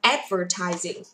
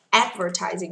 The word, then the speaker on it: advertising: Advertising. Advertising cho âm thứ nhất.